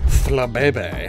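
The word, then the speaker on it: Flabébé: the language of origin thankfully we know that in this case said language is French because this Pokemon is native to Kalos which is based on France and so these E's are pronounced as a same as in Pokemon hyphens are also sometimes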